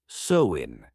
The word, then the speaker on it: Samhain: Over 2,000 years ago, in the lands we now call Ireland, Scotland, and northern France, the Celts celebrated a festival called Samhain, pronounced Samhain.